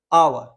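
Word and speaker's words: hour: जो प्रोनंसिएशन होता है वो होता है आ आवर ठीक है ना are silent S silent pronunciation जो आता है वो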